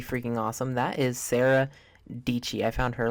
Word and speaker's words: Dietschy: into the search bar type Sarah and then dii rhymes with pachy d i e TS c h y she will be there and she yeah should be the very first result up there which makes sense dii is kind of an odd last name not